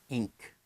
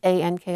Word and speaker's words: ank: Ink. Again? Ink. Okay. That is sounding to me like I-N-K. So when I say this, A-N-K, I say ank.